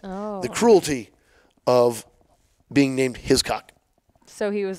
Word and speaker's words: Hiscock: Is that how you pronounce it? Is It's Hiscock.